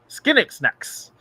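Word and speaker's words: Skynxnex: Marc Thompson says Skinnixnex to pronounce that alien's name.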